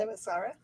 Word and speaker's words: Themyscira: I can never pronounce it. Themyscira?